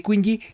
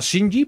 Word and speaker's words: Qingyi: de kinji o o shinji porque creo que la cosa pronuncia como ch en en chino Así que no está